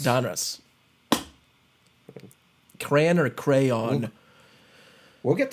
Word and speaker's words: Donruss: But if you say it fast, Don Ross. Donruss.